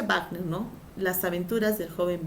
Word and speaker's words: Wagner: Recuerda que se pronuncia Wagner, ¿no?